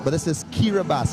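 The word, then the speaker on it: Kiribati: spelling but this is kiribas it's spelled k-i-r-i-b-a-t-i yet it is pronounced kiribas it's made up of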